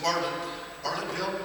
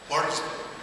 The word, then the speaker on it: Bartlesville: I was in Bartlettville, is that how you say it? Bartlesville.